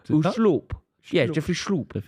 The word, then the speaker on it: Schlupp: It's really schlupp. Right. Schlupp. Yeah, because it's Dutch and it's more of a soft ooh. Ooh, schloop.